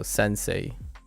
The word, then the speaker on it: Sensei: say oh oh yeah I forgot the N that n syllable took me by surprise that sound I didn't think the n Sound was a separate but say say and say e so Sensei Sensei Sensei uh Sensei